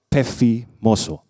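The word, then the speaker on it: πεφίμωσο: Di dalam bahasa Yunani, tulisannya tuh siope, tapi bacanya siop, pefimoso. Kita baca sama-sama belajar bahasa Yunani ya. Siop, pefimoso.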